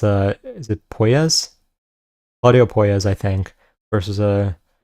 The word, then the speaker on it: Puelles: I always mess up how to pronounce this guy's name. It's, is it Puelles?